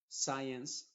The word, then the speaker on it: science: con s c y la c es muda y la s es la que se está pronunciando Science scientific czer y así